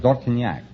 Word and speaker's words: Dortignac: How would you pronounce it over there? In France, Yeah. Dortignac. Dortignac, yeah. Well, Dortignac yourself, huh?